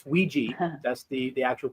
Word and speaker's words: Ouija: It it's a it's Ouiji. That's the the actual pronunciation for it.